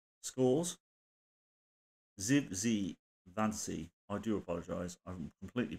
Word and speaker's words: Zivzivadze: Zivzivadze. I do apologise. I've completely butchered that. Zivzivadze. There you go. He's got the same. The first two bits of his name are the same, so it's Zivzivadze.